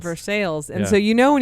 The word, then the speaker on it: Versailles: in uh Kentucky called versale versai but it's pronounced versales versales and so you know when you got an outsider there if they call it Versailles right totally and and so it was a